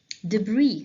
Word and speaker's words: debris: water the dirty water debris the s here is silent remains of something broken